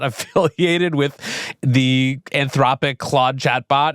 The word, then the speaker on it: Clawd: affiliated with the anthropic claude chatbot. It is spelled or was spelled C L A W D. Uh so Claude like a lobster is clawed.